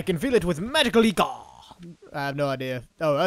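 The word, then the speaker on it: ichor: truple chalice I can feel it with magical eor I have no idea oh it's pronounced iore did answered my question for me choose your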